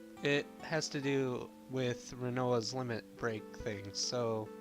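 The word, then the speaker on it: Rinoa: This is Renoa. That's how we're gonna pronounce it, and that's what we're gonna go with.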